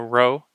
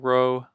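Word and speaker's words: ῥῶ: letter next we have a row this is similar to an English r ow so it it think of drawing an R but completing the circle that might be one way to remember what this is so rho or it's like a paddle Row Row Your Boat starting from the top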